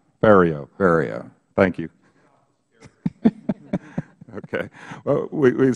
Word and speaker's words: Ferriero: off saying you're drunk rhymes with stereo Ferriero area thank you okay